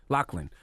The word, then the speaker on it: Loughlin: Did I pronounce their names right? Loughlin.